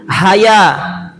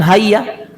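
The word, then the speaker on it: هيا: Haya, bukan hayya, tapi haya.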